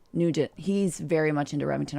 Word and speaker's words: Nugent: Nugent. Nugent.